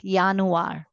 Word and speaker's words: Januar: And wherever you have J, it is uni, Yuli, like that. Januar, Yot sound.